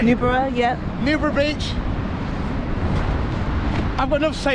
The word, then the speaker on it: Newborough: Newborough, yep.